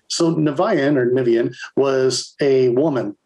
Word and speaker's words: Niviane: from people all over the world it's either pronounced vivienne or uh there's another one nivean or neva or something but it depends on